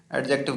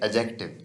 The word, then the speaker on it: adjective: एडजेक्टिव इसको नहीं पढ़ते, इसकी एग्जैक्ट प्रोनाउंसिएशन होती है एजेक्टिव। इसमें डी जो है उसको बिल्कुल स्लाइटली पढ़ते हैं, एजेक्टिव पढ़ते हैं।